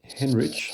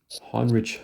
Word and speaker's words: Heinrich: here a German physicist named Henrich Heinrich pronounce it Heinrich Hertz in the late 1880s